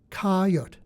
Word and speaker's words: Cote: readers in the ninth it was pronounced like the beast kyot but with a silent E Cote technically Untouchables were not